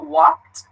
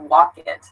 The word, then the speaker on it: walked: So for example, I just said walked. You can hear it's not walk it. Be careful with this, not walk it, but walked.